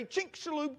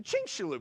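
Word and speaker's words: Chicxulub: Near the Yucatan Peninsula, there's a Chinink Shaloo Crater. Yeah, I I had to practice that a lot in my office already. All right. Because it doesn't sound like it's spelled.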